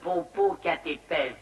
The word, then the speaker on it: Popocatépetl: C'était le Popocatépetl. Ça s'écrit comme ça se prononce.